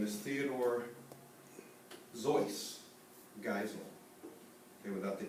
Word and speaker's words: Seuss: Seuss's real name is Theodore Zois Geisel, okay, without the E. The name is his mother's middle name. It's Bavarian. The actual pronunciation is a little bit rhymes more with voice than with juice.